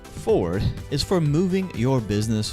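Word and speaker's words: 4RD: but please understand that 4 Rd pronounced Ford is for moving your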